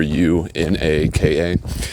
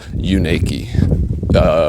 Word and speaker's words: Unaka: Um, but yeah, he told me that it's actually pronounced "you naked" because it was like,